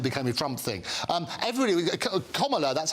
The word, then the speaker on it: Kamala: It's Kamala, La is how you pronounce it. As in communist.